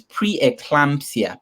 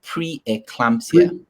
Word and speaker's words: pre-eclampsia: me pronounce that i don't know how to pronounce that oh yeah i think that one is pre-eclampsia pre-eclampsia okay pre-eclampsia okay please how can i normalize